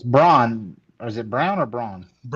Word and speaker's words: Braun: Is it Brown or Braun? It's spelled Brown. Christian Brown. Christian Brown. It's spelled It's pronounced Brown.